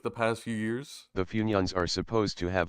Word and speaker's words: Funyuns: I love how the TTS pronounced it. It's like Finions. Funyuns. Finions, or something like that.